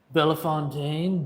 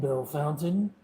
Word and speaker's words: Bellefontaine: That is right above Bellefontaine, Bell Fountain, however you want to pronounce it.